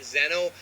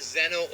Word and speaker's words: Xeno: And I'm pronouncing it Xeno. You can pronounce it Xeno or Xeno. It's Xeno, like Xenoverse, which is where the idea came from.